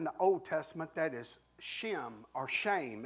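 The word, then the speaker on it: שֵׁם: Old Testament that is Shem or shame it's sem it's just three words three letters it's pronounced shame and for us to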